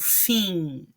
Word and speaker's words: fim: Quando a palavra termina em M, eu não pronuncio o M, ele simplesmente me indica um final nasal. Então, fim, bom. Estão vendo? Vejam que eu não falo fim, bom, né? Eu não vou pronunciar o M, tá? Ele fica assim com um som nasal.